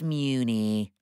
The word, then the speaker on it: Mewni: i'm sure everybody on mooney wore a cape mewni it's pronounced muni marco i'm just trying to help and i'm just trying to help you properly say mewni croissant croissant it's pronounced